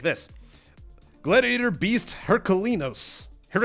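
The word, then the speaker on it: Heraklinos: Gladiator Beast Herculinos. Make sure you get all the syllables in there. Herculinos.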